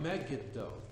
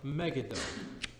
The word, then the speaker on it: Megiddo: there in Nazareth about Megiddo correct pronunciation Megiddo but it's also so